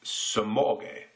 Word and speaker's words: Semogue: of the brush because I've heard it pronounced Semogue. I've also heard somebody say Semogue or something like that, Semogue. And apparently it's pronounced Semogue. Semogue.